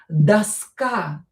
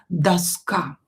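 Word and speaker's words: доска: Daska, same here. O not stressed, pronounce it as a. And this a is stressed here, not o. So, pay attention to the stress, it's very important. Daska.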